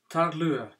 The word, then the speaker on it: taorluath: apprendre se nomme le Tarl comme le l lu c'est un NME en galique et on prononce pas le TH à la fin comme le C ornement